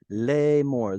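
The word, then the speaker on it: לאמר: Lemor, this is two syllables. The aleph here has quiesced. You can't pronounce aleph at the end of a syllable, so it's got no vowel attached to it.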